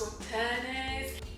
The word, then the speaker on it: Sauternes: It's probably my favourite one so far, but the one that I was quite excited about was, I think it's pronounced Sauternes.